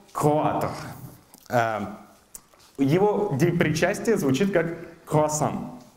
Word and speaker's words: croissant: Его причастие звучит как «croissant». Французы, да, имеют ужасную фонетику, последняя буква обычно читается, «т» не произносится.